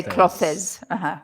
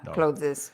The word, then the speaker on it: clothes: said at the beginning don't add that extra syllable that's bad so no don't say cloes clothes no Mikela has joined